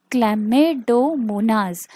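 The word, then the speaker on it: Chlamydomonas: पाहिजे प्रोनन्सिएशन चुकलं की तुमच स्पेलिंग चुकतं त्यामुळे प्रोनन्सिएशनच पहिलं व्यवस्थित करा जे मी म्हणते आता हे क्लमेडोमनास क्ल सी एच एल ए न एम वाय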